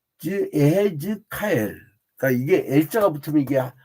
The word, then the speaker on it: 에스겔: 이게 에스겔이라는 이름은 처음에, 그러니까 이게 발음이 조금 달라요. 내가 아예 키브를 정확히 써드릴게요. 왜냐하면 이 목사님들 장님들급 이상 부르는 분들도 꽤 돼가지고 이게 요드하고 그다음에 쉐바 이해라고 그래요. 예. 그다음에 해. 그다음에 지죠. 이거는 단문 뒤니까 지 그리고 카 한 다음에 그 다음에 뒤에 L 붙여요. 알렙하고 그 다음에 이제 라멕 이렇게 L. 이제 여기서요 그러니까 에헤제카엘 이렇게 발음을. 근데 이게 한국식 발음으로 그냥 에스겔로 한 건데 에헤즈카엘.